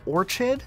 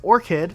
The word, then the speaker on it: orchid: game I've seen people call this color or Chad even though it's orchid and this color Cayenne